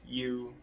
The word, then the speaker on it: Yue: And so the main character is Yue Hughes. Um Y U E yes Yue Hughes. And obviously it it okay it's pronounced Yue like literally.